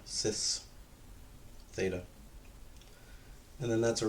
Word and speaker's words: cis: And again, I pronounce it cis. Some people pronounce it kiss. You can call it whatever you like. Except for you, Sebastian. You cannot call it kais. That's not real. That's not an option.